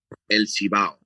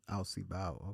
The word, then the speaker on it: Cibao: El Cibao. Alcibao.